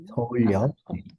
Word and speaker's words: 서울역: 끼입니다 서울 그리고 여기에요 어떻게 읽을까요 서울역입니다 서울역 서울역 서울역이고요 그리고 한국에서 가솔린은 휘발 그리고 이후에요 가솔린입니다